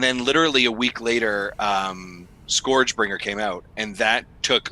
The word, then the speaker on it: ScourgeBringer: It is ScourgeBringer. Scourge. I know I keep saying it wrong. It's ScourgeBringer.